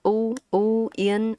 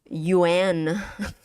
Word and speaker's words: uyên: How you say the u from the beginning is very important. If you don't say it correctly, it's gonna sound like yuan.